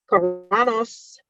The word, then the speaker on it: Carano: Up next, Star Wars has finally confirmed and debuted a replacement for Gina Carano's character after 2 years since her firing.